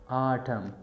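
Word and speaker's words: autumn: most खजा आ इस्तेमाल ए यू टी यू एम एन आटम की N silent आट प्रोनसिएशन दे आवे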